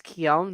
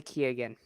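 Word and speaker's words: Keoghan: cinema besides vader the joker played by barry keown uh it's kyon that's a pronouncea yeah i found out kyom i was pronouncing key again yeah that's not right don't worry i was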